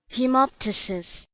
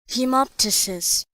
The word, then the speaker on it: hemoptysis: gets rid of that out of his mouth pronunciation hemoptysis hemoptysis the next uh suffix we have ridge or